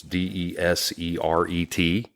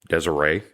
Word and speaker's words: Deseret: website, Deseret News, I guess that's how that's pronounced. It's Deseret, Deseret.